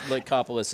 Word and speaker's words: Lycopolis: It's Lycopolis is correct.